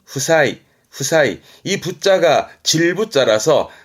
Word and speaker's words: 負債: 체자 빚을 말합니다 요거는 승부의 부자니 이게 부채입니다 발음은 후사이 후사이이 부자가 질부 아라서 그 빚을지는게 부채가 되지요